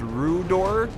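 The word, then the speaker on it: Rhudaur: I'm not 100% sure how to pronounce this name, but I think it's pronounced Rudor Swordsman.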